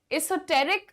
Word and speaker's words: esoteric: Esoteric is the correct pronunciation.